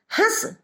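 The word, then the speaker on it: हँस: और यहां चंद्र बिंदी का प्रयोग होता है हंस, जिसका मतलब होता है हंसना, जो कि एक क्रिया है।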